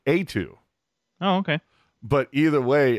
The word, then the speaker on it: Eetu: thought or at least most people were pronouncing it like E2 machinimi it's etu right well from what I've seen it's like A2 oh okay but either